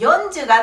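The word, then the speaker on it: よんじゅう: 4、 네, 선호하는 발음으로 읽어주셔야 돼요. 용, 그 다음 10은 10、 그래서 40은 40、 연주가 되는 거예요. 시주라고 읽지 않습니다.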